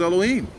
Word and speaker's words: Elohim: Well, in the Bible, it's pronounced Elohim.